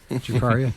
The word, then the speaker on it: Draparia: I'm always afraid I'm going to say it wrong. Draparia, that's it.